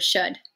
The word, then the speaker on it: should: it does not sound it's not written the way it sounds it's written like this oh you and then there's a silent L you can't hear that out but you can hear the last down in the word should should there's the D okay in the summer